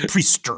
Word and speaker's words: Priestr: On the Priestr app, right? Like you rate the priests for the Exorcist, and it's spelled Priestr. Right. There's no ER. It's just R. It's Priestr.